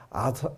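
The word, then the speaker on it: Arthur: 그 영국의 원탁의 기사 아서 아더 왕 이라고 하는 요새 나서 라고 하던 우리 때나 다 왕이라 그랬는데 선 아사 왕 이라고 하더라구요 ph 발음을 그렇게 좀 시대에 따라 바뀌어 지나 봐요 아서 왕 의 그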